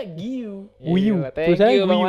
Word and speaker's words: Guiu: bacanya Giu.